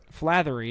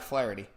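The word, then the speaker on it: Flaherty: Oh, Flathery. Isn't that how you say his name? Uh, no. It's Jack Flareity.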